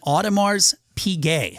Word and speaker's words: Audemars Piguet: And I guess the rest of us boomers, it's an Audemars Piguet, I think is how you say it. I'm sure there's like a French pronunciation to it.